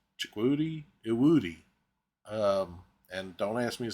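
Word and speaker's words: Chukwudi Iwuji: I had to listen to a pronunciation of the gentleman's name. It's Chikwudi Iwudi.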